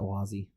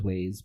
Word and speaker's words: Waze: I've always pronounced it Wazi. Whatever. I'm pretty sure it is Waze, but it just bugs me every time.